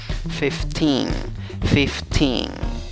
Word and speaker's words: thrifty: lees los símbolos fonéticos la y que tiene la normal que tiene un puntito arriba se pronuncia el y que una y chiquita como que si se estuviera durmiendo la y la segunda sílaba tiene una fuerte esa con el sombrero arriba es la fuerte donde va la fuerza de voz en la segunda sílaba contando de izquierda a derecha como pronuncia la palabra